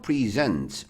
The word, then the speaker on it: present: 이걸 present라고 여기에 강하게 읽으면 선물이야. 선물. Present는 선물. 됐죠? 근데 봐봐. 발음을 present라고 발음할 때 있어. present 그죠? 뒤에 좀 강세를 두고로 발음했죠.